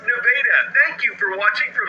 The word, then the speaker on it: Nevada: Yes, that's pronounced Nevada.